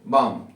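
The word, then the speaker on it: bomb: आपको नहीं करना है, जैसे बॉम्ब, कॉम, टॉम, ये टूम, बॉम्ब, कॉम, टूम। तो जब भी एम के बाद में बी मिल जाए तो उसका प्रोनाउंसिएशन आपको नहीं करना।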